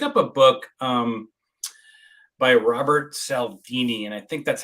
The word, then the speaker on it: Cialdini: I picked up a book by Robert Cialdini, and I think that's how you pronounce his last name. And it's the psychology. Cialdini. There you go. Yeah, Yeah. Cialdini.